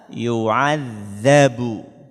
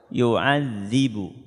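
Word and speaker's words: يُعَذِّبُ: Bagaimana harokat fathah cara membacanya? Fayauma idzil la yu'adzabu. Kalau tadi apa? Yu'adzibu.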